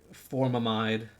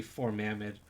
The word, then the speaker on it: formamide: so nice to say like formamide it's technically four mamid so drives me nuts